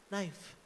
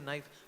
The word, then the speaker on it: knife: it should be nyf knife no K is silent okay so and he is also silent although it should be can I say right but we say knife even to learn the